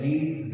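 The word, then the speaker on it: read: देखते हैं कि मैंने लिखा अली हैज रेड a book. तो रीड की सेकंड और थर्ड फॉर्म जो है रीड रेड स्पेलिंग यही रहते हैं रीड के, लेकिन इसको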